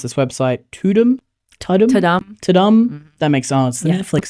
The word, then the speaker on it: Tudum: I think, I was reading some stuff on, I've got no idea how to pronounce this website, Tudum.